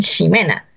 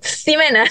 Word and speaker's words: Ximena: Mi nombre se escribe Jimena con X. Nosotros lo pronunciamos en Chile como si fuera una J. Pero hay otros lugares donde lo pronuncian como si fuera una SH. Por ejemplo, en España a mí me dicen Ximena.